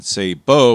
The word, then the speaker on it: sabot: wrong, and that is sabbo. Less common is the pronunciation say bo with an accent on the second syllable.